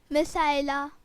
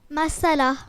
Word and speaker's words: مسئلہ: نہیں، مسائلہ بھی اس کا صحیح تلفظ نہیں ہے. سب مسائلہ بول رہے ہیں، غور کریں کہ یہ لفظ کیا ہے. جی نبیہہ. مسئلہ. مسئلہ. مسئلہ اس کا صحیح تلفظ ہے.